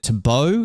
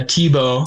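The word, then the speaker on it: Thibault: The French is it Tabau? Is that how you say his name? He's the multiple world champ. Like basically the the goat of this sport and you were finish of him, right? So correct my pronunciation first of all because I'm probably butchering that completely. Yeah. TBO. I was I was close. Closer than I thought I was.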